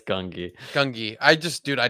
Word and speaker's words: Gungi: Gunji, will Gunji survive? does Gun wait It's Gungi.